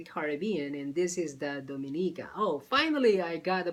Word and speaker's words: Dominica: part of the Caribbean and this is the dominica Oh finally I got the pronunciation right I always mess up with the